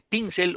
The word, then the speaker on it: pincel: Pincel. En la pin o en cel. La mayor fuerza de voz. En la pi. ¿Qué dicen? Se dice pincel o pincel.